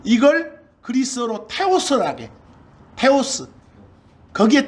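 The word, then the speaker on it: θεός: 그런데 우리 하나님, 신 이걸 그리스어로 테오스라게.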